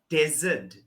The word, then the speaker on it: desert: Can we go to the desert?